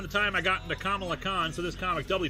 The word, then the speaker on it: Kamala: episode featuring her uh someone in the comments said it's pronounced i was like kamla or kamla and then i think like miss marvel the series came out it is kamala isn't it yeah it's